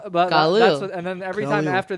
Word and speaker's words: Khalil: The announcers kept like reiterating his name was Khalil, and they weren't saying Khalil Mack.